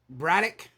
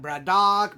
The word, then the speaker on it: Braddock: is Jeff bradock uh that's pronounced bradic not Brad do Brad dick whatever or just or